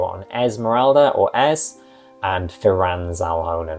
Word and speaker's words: Firan: And then NPC-wise, I'd love to do a video on Esmeralda or Ez, and Firan Zalhonen, or Firon, I think he might be pronounced, and we'll talk more about that in that video.